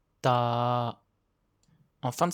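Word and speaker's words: ตา: Pour le non aspiré, quand on le prononce, il faut faire attention de ne pas souffler d'air du tout. Seul le son sort de votre bouche. Soyez particulièrement vigilants sur les sons ti, t, qui ne sont pas naturels en français. L'œil se dit ta.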